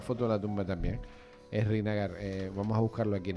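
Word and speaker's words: Srinagar: A ver, dime cómo es Es Renigar. Es Renigar. Se escribe así, es Renigar.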